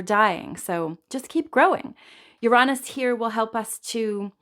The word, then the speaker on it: Uranus: So Uranus gives us, there's so many ways to pronounce Uranus. I guess nobody wants to hear you say Uranus. So I choose the Uranus version, but I've heard people say Uranus too, which sounds a little closer to Uranus to me. So I'm going to just stick with Uranus.